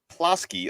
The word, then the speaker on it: Plosky: And to your point, the last name is pronounced Plosky, although I did like Plosky, Plosky.